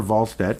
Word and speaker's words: Wallstedt: Just because Jesper Wallstedt, which is how we'd like to pronounce it, I'm pretty sure that's how you're supposed to.